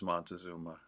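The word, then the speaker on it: Montezuma: It is Montazuma.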